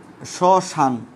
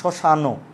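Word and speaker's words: শ্মশান: হস্তচিহ্ন দিয়ে আমরা এখানে বোঝাতে চাই যেখানে স্বরের উচ্চারণটা নাই। লক্ষ্য করো, আমি বলেছি যে এখানে বলেছি কি, শশান, শশান ন বলি নাই, কিন্তু শশানো।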